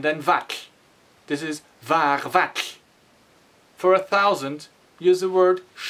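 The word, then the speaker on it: vatlh: The syllable vak ends with this difficult sound TLH. We spell it TLH because it's a T and an L at the same time. So it is vak.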